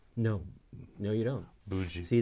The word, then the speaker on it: Budzi: Bud? No. No, you don't. Budzi. See, the D, for the DZ sound makes a J sound.